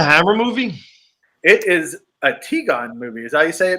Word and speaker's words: Tigon: It is a Tigon movie.